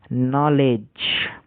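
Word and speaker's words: knee: তো এটা হচ্ছে নলেজ।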